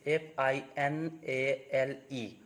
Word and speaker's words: finale: letter e okay so i can give you an example that is f i n a l e okay where you have to say finale okay so letter e is pronounced in this case and you get the